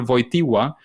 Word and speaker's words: Wojtyła: The Pope is Karol Wojtyła, even though it looks like a T. It's not really a T.